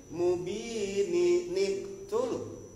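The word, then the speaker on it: مُبِينٍ ٱقْتُلُوا: Kalau kita mau bacanya wasal, maka ini nun kecil berfungsi. I nyambung. Nyambung. Berarti bacanya mubini niktul. Mubini niktulu.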